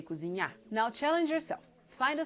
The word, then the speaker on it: cozinhar: in their infinitive form, the last syllable is stressed and the R is silent. So you don't say dirigir, you say dirigir. You don't say treinar, you say treinar. You don't say cozinhar, you say cozinhar.